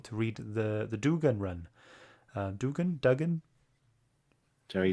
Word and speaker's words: Duggan: Duggan? Jerry How do you say Dugan. it? Dugan, yeah.